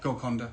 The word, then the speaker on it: Golconda: Golconda. Golconda. Yeah. It's like a python. Anaconda.